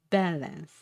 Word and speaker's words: balance: Balance. Stress on B.